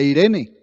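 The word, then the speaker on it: εἰρήνη: La palabra paz viene de un vocablo griego que se escribe y se pronuncia Irene, y que traduce unir dos cosas que estaban separadas.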